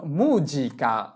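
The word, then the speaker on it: musica: যেহেতু এস এর উভয় পাশে ভোকালে আছে তাহলে এস এর উচ্চারণ করতে হবে জ এর মত।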